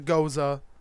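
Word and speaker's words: Gose: e EF cos e that's a Goza that's how it's pronounced this goes uh they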